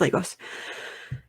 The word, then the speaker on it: Lagos: Okay, it is Lagos. I love phonetics. It is Lagos.